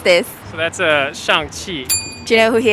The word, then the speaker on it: Shang-Chi: Can you help me pronounce this? So that's Shang Chi.